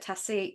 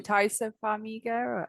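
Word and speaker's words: Taissa Farmiga: Was it France or Italy that tourists, is it Tassia? Oh, I always get a name wrong. Taisa Farmiga.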